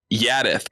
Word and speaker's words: Jaddeth: And then an unBrandon-like characteristic goes, it's pronounced Jaddeth, by the way.